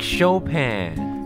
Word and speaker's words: Chopin: just gonna google it how to pronounce frederick shopkin frederick chopin oh it's frederick chopin yeah it's chopin now go redo the